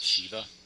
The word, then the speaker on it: Shiva: Also, it's pronounced Shiva, and that's actually a true statement.